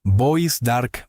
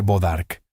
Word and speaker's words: Bois d'Arc: Lo llamaban Bois d'Arc, madera del arco. Los colonos estadounidenses deformarían la pronunciación hasta convertirla en algo más simple, Bodarc.